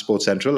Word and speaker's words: SportCentrAll: so it's spelled Sports Central like a but pronounced Sports Central as Philip said um so if you go